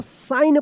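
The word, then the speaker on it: sign: क्या होगा कि ये जी जो है ना साइलेंट रहेगा क्या पढ़ेंगे इसको साइन पढ़ेंगे इसको सिग्न या साइग्न मत पढ़िएगा क्या पढ़ेंगे साइन पढ़ेंगे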